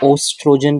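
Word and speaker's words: estrogen: सो दी The two common sex hormones are टेस्टोस्टेरोन एंड एस्ट्रोजन। एस्ट्रोजन को हम क्या बोलते हैं, ओस्ट्रोजन भी बोल देते हैं, उसकी जो स्पेलिंग होती है उसको हम ऑस्ट्रोजन भी बोल देते हैं।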